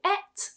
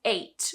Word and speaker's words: ate: on many other factors some speakers will say et i etched the apple or i ate the apple me personally i use eight but many speakers use it as well fall falls fell fallen